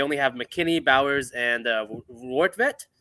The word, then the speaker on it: Rortvedt: They only have McKinney, Bowers, and Rortvedt. Is that how you pronounce it? Rortvedt, yeah. Only lefties in the lineup.